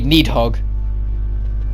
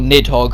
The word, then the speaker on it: Nidhogg: do now against a need hog or nidhogg however you want to pronounce it but the need hog